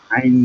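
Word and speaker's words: عين: মিম জবর মা আইন জবর আ মা মিম জবর মা আইন জবর আ মা আ মিম জবর মা আইন জবর আ মা আইনটা তো গলার চেপে উচ্চারণ হবে আইন আরটা উচ্চারণ কিভাবে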